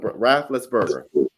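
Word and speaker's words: Raffensperger: Can you pronounce his name for me? Rafflesberger.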